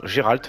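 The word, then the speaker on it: Geralt: un vœu qui a été fait par gealt pardon Géralt je le dis à la française moi je dis Géralt d'ailleurs c'est comme ça qui va être nommé aussi dans le dans le jeu prononcer de cette manière donc Géralt qui a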